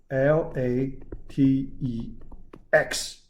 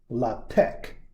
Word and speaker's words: LaTeX: language should be used here the language is l a t e x l a t x how to pronounce it two different ways to pronounce it the first way some people pronounce la tech second way some other people like to pronounce